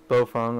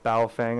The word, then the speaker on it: Baofeng: I was trying this Baofeng or bowel Fang I've gotten corrected today on YouTube my last video was incorrectly pronounced but we all know